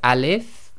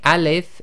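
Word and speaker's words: ألف: Now this is pronounced as alif and not as a. Okay, and when you say alif, it's just as long as it takes to say the word alif.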